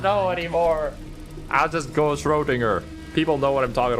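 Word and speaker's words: Schrödinger: Schrodinger with a hard G like finger. For my part, Did she just mispronounce it? I don't know anymore. I'll just go Schrodinger.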